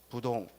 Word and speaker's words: 부동: 동 2 아니라 한자가 2 동 이라고 읽으면 안 되고 뭐라고 이거 부동 그래서 부동자세 지불 동